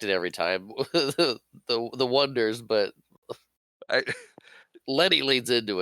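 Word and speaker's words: Oneders: The wonders, but I Lenny leads into it.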